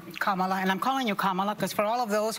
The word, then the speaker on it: Kamala: Let's, Kamala, and I'm calling you Kamala, because for all of those who are mispronouncing it, I want you all to know how to say it.